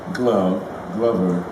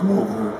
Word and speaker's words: Glover: It comes from the same glove. You know, it's an English name, Glover. But some people call me Glover and everything else. And it doesn't bother Danny Glover.